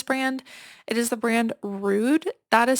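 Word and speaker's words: Rhude: It is the brand Rude. That is spelled, in case you're listening and not watching, R H U D E.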